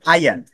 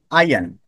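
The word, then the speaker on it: iron: আয়ন, আয়রনের, আমরা যেটাকে আয়রন বলি, এটার উচ্চারণ কি? শুদ্ধ উচ্চারণ আয়ন। ই, আয়ন।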